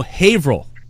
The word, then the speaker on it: Haverhill: vrel Haverhill like okay it's actually if you type in its Haverhill but we pronounced a table I'm yelling that among you Haverhill hav they say hey bro its Haverhill type in Haverhill and anyway what the